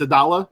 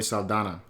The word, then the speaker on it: Saldana: her first name Zoe is a dollar is that how you pronounce it no there's only Saldana Saldana okay I messed up shut